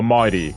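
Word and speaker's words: Mydei: But first and foremost, we've been trying to pull for me or Mighty, that's how you say his name.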